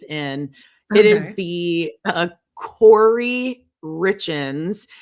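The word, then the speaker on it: Kouri: It is the uh Corey Richens. It's spelled K O U R I Richens.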